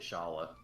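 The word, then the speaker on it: Schala: Scala Kitty says Scala, but I always pronounced it Shala.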